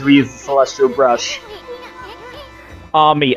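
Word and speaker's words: Ammy: Ami. Again, Amaterasu, so it should be pronounced Ami. But, you know, it's hard not to just say Amy.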